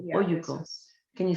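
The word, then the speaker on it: olluco: Oyuco. Oyuco. Yeah. Oyuco. Yeah, Oyuco. Can you spell it for us? It's O-L-L-U-C-O. Double L is pronounced with a Y, right?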